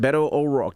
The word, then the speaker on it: Beto O'Rourke: it's Beto O'Rourke. Did I say it right? You said it perfectly.